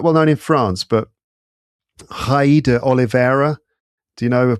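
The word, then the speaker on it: Raí: Hai, R-A-I. How do you say that in Brazilian Portuguese? Hai. That would be hai. The R is pronounced more like what we would use an H for.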